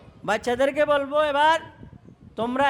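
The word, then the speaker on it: تاء: এবং নুক্তাগুলি কোথায় উপরে এটার উচ্চারণ কি হবে তা এটাও পাতলা উচ্চারণ হবে এটার উচ্চারণে কি হবে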